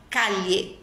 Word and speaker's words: calle: O espanhol já vai falar calle. A pronúncia vai ser calle, dos dois L's.